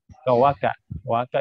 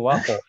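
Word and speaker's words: وقعت: Waka ini waqo. Qaf bukan waka ya. Waqo.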